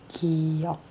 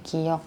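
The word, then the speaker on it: 기역: Kalau mereka sebut ini giok. Ini cara bacanya. Kalau hangulnya giok.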